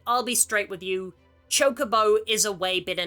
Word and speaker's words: Chocobo: RPGs and go to another hotly debated pronunciation, Chocobo or Chocobo. It's Chocobo. And again, there was no voice acting originally. I get how you might have mispronounced it. But where in Ketchi's coiffed fur did you get choke from? Where did you find the extra E? C-H-O-K-E needs an E, because if you look